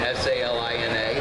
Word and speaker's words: Salina: Is it S-A-L-I-N-A? Yes. Then, according to my English teacher, the I becomes a long I because the A, there's only one letter between it, so it's Salina.